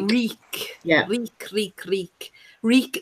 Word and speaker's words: Reek: yeah we creek leak reek it rhymes with bleak and Melissa blues oh